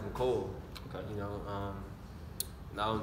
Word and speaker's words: Mecole: It's actually pronounced Mecole.